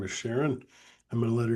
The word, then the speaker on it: Sharon: My name is Sharon. It's pronounced Sharon, Sharon. I'm sorry.